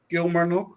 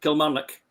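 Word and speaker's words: Kilmarnock: Um we start with um with Dundy United who will play against the way against Kilmer. Yes, you're not saying it right. No, that's right. Kil Marik.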